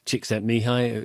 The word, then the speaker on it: Csikszentmihalyi: There's that great researcher Csikszentmihalyi, clusters of consonants, long clusters of consonants in his name. But actually, it's quite, when somebody taught me how to pronounce it, Csikszentmihalyi, it got a lot easier.